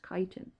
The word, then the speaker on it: chitin: Notice how it's spelled. It looks like chitin, but it's pronounced chitin.